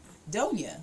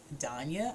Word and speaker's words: Doña: things I get that so I say don't you they say Dania I say no don't yeah they say Donya I say no no no I don't no just